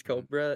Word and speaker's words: Corbra: It's spelled Corbra, but his name's Cobra and Ant.